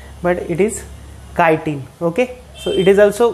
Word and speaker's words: chitin: Some people pronounce it as chitin, but it is chitin.